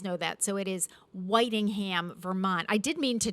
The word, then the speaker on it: Whitingham: and I said that he was born in Whittingham, Vermont. And Kevin Nutting, one of our viewers, said to me, he was coming through the lunch line, and he said, Tina, it's actually pronounced Whitingham, Vermont.